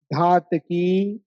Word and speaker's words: धातकी: की खंडे है ना धातकी बोलना बहुत से लोग घातकी बोलते हैं है ना घातकी नहीं है धनुष का है घन का नहीं धनुष का उच्चारण करना द्व धातकी खंडे संधि